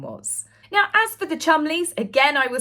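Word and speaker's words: Cholmondeley: about Prince William was now as for the chumy again I will say yes that is how you pronounce it they are still very good friends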